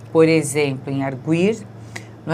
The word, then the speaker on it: arguir: Então, agora nós simplesmente temos de saber que arguir, não é? Faz com que o U tenha som fraco, mas na forma ele argui, o U tem o som forte, não é?